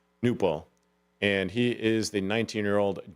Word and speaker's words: Knueppel: I think the K is silent, but it's Knueppel. Newpel.